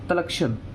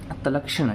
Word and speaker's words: तलक्षण: इसको बोलते हैं हम तलक्षण। ये थोड़े संस्कृत के वर्ड हैं, ठीक है। तो मैं एक बार आपको बताता हूँ कैसे प्रोनाउंस करते हैं, इसको तलक्षण बोलते हैं, ठीक है।